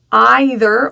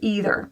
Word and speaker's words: either: This word either can also have 2 options. You have the either or either. So there's your E for either and I for either. Choose the one you like.